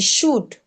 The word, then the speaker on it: should: Yes, so the L is not, the L is absorbed in the pronunciation. I know that there is this tendency to say would, should, could, and all of that. Yes, but it's not pronounced.